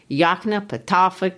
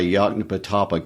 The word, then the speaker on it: Yoknapatawpha: self-contained community he called Yoknapatawpha County, Mississippi. Let me congratulate you on your pronunciation of that. Just to clarify, Yoknapatawpha County, Mississippi, with Jefferson as its county seat, is not a real place.